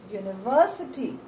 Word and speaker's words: university: Same way, a university. The word begins with the letter U, but the sound is emitted as Y.